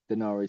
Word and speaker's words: Daenerys: And Danny was modeled after Daenerys Targaryen. Is that how you pronounce the name from Game of Thrones? Yes. Denari Targaryen, Okay, or as she's commonly known, Khaleesi.